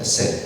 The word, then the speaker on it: hesed: Ou hesed, não é? Como é que pronuncia isso? É hesed, ok.